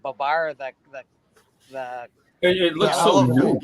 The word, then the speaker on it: Babar: And now all these Frenchies say Babar. Yes, Babar. It's Babar. That's how you pronounce it, Steppo.